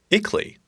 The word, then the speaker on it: ICLEI: emissions through the CDP eakly pronounces it CLE was really spelled ICLEI is an international association